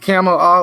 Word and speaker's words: Kamala: President Biden, President Kamala Harris, Kamala, like camel, like the dromedary. That's how I've heard it pronounced.